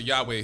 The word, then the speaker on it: Yahweh: the old testament and we pronounce his name here as yahuwah so wherever you see the lord once again within the holy scriptures that is where in the hebrew language which is the language that the old testament was originally written in that is where you see the name jehovah or some pronouncer yahweh who is the creator